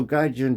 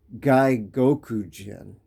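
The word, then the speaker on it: 外国人: saying gyun or whatever so gun just means Foreigner but it's like a derogatory term like like um like guy Goku Jin is the proper way to say it to be polite to say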